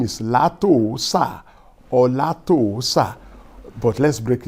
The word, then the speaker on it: Látòósà: I know you will pronounce it as Latosa. But, is that the right pronunciation? Let's see. That is not the correct pronunciation for that name. That name is Latoosa or Latoosa.